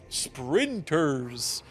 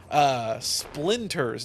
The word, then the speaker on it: Splinters: Sprinters. Splinters.